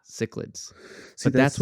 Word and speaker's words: cichlid: so what did you say again when I was trying to, okay, so I was trying to pronounce the like Latin scientific version, right? Cichlids, is Yeah.